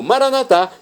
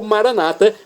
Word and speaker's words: Maranata: E agora eu clamo Maranatá, como dizemos nós católicos, ou maranata, como dizem nossos irmãos das comunidades evangélicas ou protestantes.